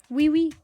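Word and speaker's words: oui oui: home okay i'll stop wee-wee but actually we is not spelled like that it spells o-u-i twice uh there were two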